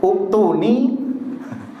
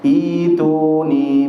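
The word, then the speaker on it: ائْتُونِي: Padahal bacanya adalah ituni bi kitab. Iya. Insyaallah banyak yang belum seperti ini bacanya. Bacanya mungkin uktuni. Jadi masuk kepada mad badal.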